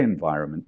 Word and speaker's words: environment: Because obviously, when we say environment, the N is really not pronounced.